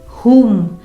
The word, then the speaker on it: whom: जैसे whom, WHO से start हो रही है स्पेलिंग, तो यहाँ पे W साइलेंट है।